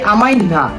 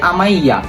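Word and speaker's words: amanhã: বুঝতে পারেন আপনি অনেকে, বাট এটার কারেক্ট প্রোনাউন্সিয়েশন হলো গিয়ে আতে আমাইয়া। এটা দেখে বোঝা যায় যে আতে আমাই না, এন আছে বাট এনটা সাইলেন্ট থাকে, আতে আমাইয়া হবে।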